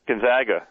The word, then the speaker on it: Gonzaga: Gonzaga Gonzaga Gonzaga Gonzaga Gonzaga that's how we call it that's how that that's how you pronounce my high school which is Gonzaga College High School here in the District of Columbia they're playing Florida state